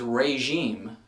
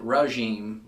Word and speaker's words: regime: The word is regime, but me as well as a lot of other people I know pronounce it regime, like an R-U-H sound.